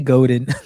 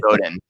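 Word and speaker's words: Godin: I was just uh is it is it pronounced Seth Goden or Seth Goden I can never remember I I always say Goden Goen I think it's Goen I was just listening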